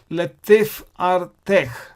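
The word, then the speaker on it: לתפארתך: And how do you split the word and pronounce? So these are the syllables. La, tif, ar, te, thek. Latif, ar, tech.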